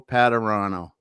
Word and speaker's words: Padurano: pastalka and with me today i've got patterano yes i said it right thank you so